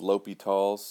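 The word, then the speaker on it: L'Hôpital: of those limits easier the pronunciation is kind of l'hopital's if you google this thing about half of the entries have an S in there I think that's because people say oh it's just like hospital and then they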